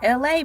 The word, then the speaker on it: ELAY: I am your host, LA, pronounced like LA, like the city.